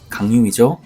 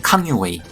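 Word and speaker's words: 康有为: 자각 운동이라고도 부르는데요 캉유웨이 강유이 그니까 한자를 우리식으로 읽으면 강인데 중국식으로 발음을 하면 캉유웨이 캉유 웨이와 캉유웨이 제자인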